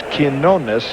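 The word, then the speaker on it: Quiñones: If Bob Shepard says it's Quinones, you can bet it's Quinones.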